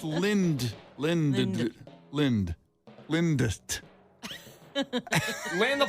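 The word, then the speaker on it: Lindt: chocolate lint gold bunny Lind I'm sorry is l l n DT how do you say that Lind chocolate I don't know but yeah Lind doesn't sound very appetizing I no it's Lind Lind Lind Lind Lind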